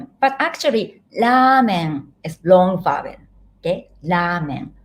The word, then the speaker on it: ラーメン: 私はラーメンが好きです。Many of my students said pronounce ramen, but actually ramen is long vowel.